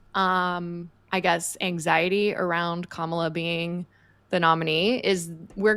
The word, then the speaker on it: Kamala: for the shout out that is completely not correct it is kamla Harris just watch too many